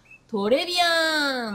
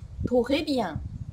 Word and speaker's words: Très bien: お勉強しましょうトレビアンなんてカタカナで覚えてる方も多いんじゃないでしょうかこのフランス語特有の発音このレの音トレビアという風にちょっと難しいと考える人は結構多いんですけどもう